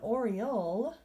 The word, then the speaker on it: oriole: It's not an Oreo, not like the cookie. An Oreo is a chocolate cream-filled cookie, but an oriole, with an L sound at the end, is a beautiful kind of bird.